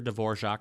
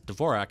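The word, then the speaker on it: Dvořák: So guest artists will come in and say, "Oh, I like your Dvorak Hall," and we're like, "No, this is Dvorak. It's named after someone particular. Same spelling, different pronunciation."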